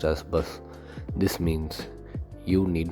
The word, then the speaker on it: bas: Pronounced as "Bas."